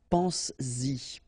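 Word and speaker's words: penses-y: this pronoun after, then you will have to put back this S, just to produce it orally, because you will pronounce it pense-y, pense-y, okay? Pense-y, all right? So you get to make this liaison.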